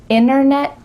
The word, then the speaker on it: internet: Internet, winner. Yeah, we're cutting out that T, especially when there's an NT in the middle of a word.